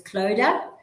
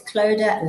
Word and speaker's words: Clodagh: My nickname for some people is, because when I have to introduce myself, it's Clodagh like soda to get the pronunciations correct.